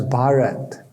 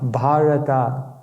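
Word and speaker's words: भारत: for India and it's made up of three syllables ba means bav which means emotion ra means rag which means Melody and t means tal which means beat so the Sanskrit name for India bhata literally means the land where emotion is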